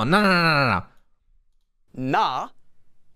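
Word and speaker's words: ㄴ: previous vowel and hear exactly what it sounds like nah nah nah nah nah nah it's not exactly like an N it's not n it's more like n n again for each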